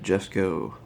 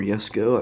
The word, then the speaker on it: Jesko: The 2020 Koenigsegg Jesko. Or Jesko, I've heard it pronounced either way.